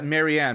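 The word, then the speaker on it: Marianne: Marin oh oh that's um Maran Mar yeah maranne maranne that's um she's that's how that's how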